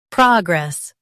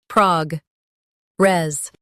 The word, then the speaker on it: progress: Prague res. Progress. Prague. res progress stress pra in US Prague in UK keep grass light progress progress practice repeatedly and you'll soon be able to say this word perfectly.